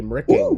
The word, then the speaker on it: Mricking: 80 Mricking 9.